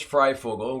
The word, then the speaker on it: Fryfogle: F oh my name yes my name is fry Fogle we're the doctor is having some problems like most people do pronouncing it uh Frugal actually means Free Bird